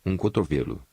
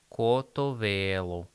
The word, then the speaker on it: cotovelo: Oh, with the accent, the Cotovelo with the accent on the E.